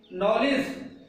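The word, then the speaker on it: knowledge: Third नियम है, यदि किसी शब्द के प्रारंभ में, यदि किसी शब्द के प्रारंभ में के एन हो तो के साइलेंट रहता है। क्या साइलेंट रहेगा? के साइलेंट रहेगा। तो देखिए, नाइफ, नॉलेज, नाइफ, नॉलेज, ये नाइफ हो गया।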